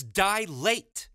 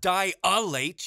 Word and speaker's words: dilate: shows from mispronouncing terms its dilate not die are late you stupid mother son